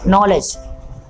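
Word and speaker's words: knowledge: यह पहला वर्ड है नॉलेज नॉलेज में के साइलेंट है नॉलेज का के साइलेंट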